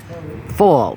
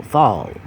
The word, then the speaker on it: fawr: very much deal in fall fall for the F pronounced like a V anyway I was saying